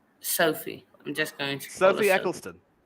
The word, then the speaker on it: Ecclestone: I'm just going to Sophie Eccleston Sophie Eccleston uh if you think of the former formula one had Bernie ecclestone that's how it is Eccleston and